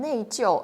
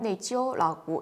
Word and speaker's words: 内疚: 근데 이게 사전에서는 네이지오 사성 이렇게 나오거든요. 근데 회화에서는 네이지오 사성 일성으로 발음하는 중국인도 굉장히 많더라고요. 탕웨이도 네이지오라고 일성으로 발음을 했네요.